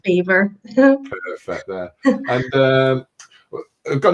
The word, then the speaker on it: Belvoir: So the first topic is going to be Belvoir Park Hospital. I don't know if I'm saying it right. You are saying it right. It's spelled Belvoir, Belvoir, but it's pronounced Beaver.